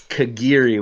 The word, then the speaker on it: Kagiri: too yeah but yeah but it's kagiri we need to train ourselves kagiri kagiri Kiri okay got